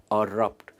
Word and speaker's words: erupt: अरप्ट ये भले ही आई से शुरू होता है, पर इसकी प्रोनाउंसिएशन है अरप्ट।